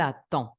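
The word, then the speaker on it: attend: a pronunciar lo mismo no pronuncio la d sé que e n es el sonido o entonces IL at IL aton versus lo mismo no pronuncio ent por consecuencia pronuncio la d sigue siendo este sonido no cambia aunque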